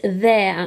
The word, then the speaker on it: there: the one that says there like it's over there there oh got my my tongue poking out at the beginning because here is there so this is making an air sound now the error and